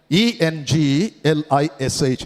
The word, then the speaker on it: English: ENGLISH எப்படி சொல்லணும்? English. எல்லாம் முதல்ல ஸ்ட்ரெஸ் கொடுங்க பார்க்கலாம். ENG, English. If I have a pistol, I will shoot you all to death, right?